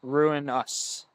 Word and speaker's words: Ruinous: to spell it uh ruinous is just like the word ruin r u i n and then just o u s so ruin us yeah no shout out